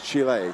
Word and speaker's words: Chile: to pen who said why did you keep calling them Chile cuz that's what we've been told yes that's what we've been told is the correct pronunciation it's Chile yes we got Ailes versus